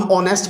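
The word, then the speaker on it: honest: For example हा इन ऑनेस्ट, इसमें हम एच को नहीं पढ़ते, ये म्यूट है, लिखा हुआ है, हम ऑनेस्ट पढ़ते हैं।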